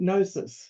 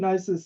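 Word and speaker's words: Knossos: s and it's um ancient um a ancient nosis so silent k so ancient nosis is a really great place to visit and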